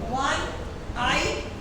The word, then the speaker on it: one-eyed: अभी देखो one-eyed man, O-N-E, O से शुरू हो रहा है, उच्चारण क्या है? one-eyed man। और हमने फोनेटिक्स में क्या पढ़ा था? जब W किसी शब्द को शुरू करता है तो वो कॉन्सोनेंट माना जाता है, इसलिए one-eyed man, a one-eyed man।